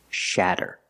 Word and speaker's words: shatter: We see the letter A making the short A sound like black cat. Shatter. To make the sound A, put the tongue down in the front behind your teeth and then up in the back.